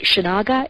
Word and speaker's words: Shinaga: I believe it's pronounced Shinaga, S-H-I-N-A-G-A.